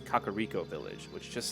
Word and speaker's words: Kakariko: was supposed to be i've learned that kokiri forest i often called uh one of the villages uh carico village not realizing there's actually two k's and it's kakariko village which just sounds